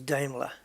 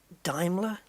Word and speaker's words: Daimler: But the one that got me was Daimler. Because my whole life it was Daimler, Daimler, Daimler. And it's not. Apparently it's Daimler.